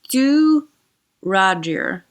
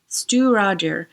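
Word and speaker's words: Stiùireadair: to tell you that it is pronounced, according to Google, as Stiuireadair. Stiuireadair. It's got like a lot of Gaelic. This is Scots Gaelic pronunciation of both the distillery and this particular bottle. And that word, Stiuireadair, it has so many vowels and consonants in such weird places for English speakers.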